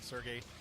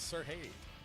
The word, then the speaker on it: Sergey: I found out I've been saying his name wrong the whole time. I kept calling him Sergey. It's Sergey. Sergey Poltovets coming up next. Sorry, Sergey, been saying your name wrong.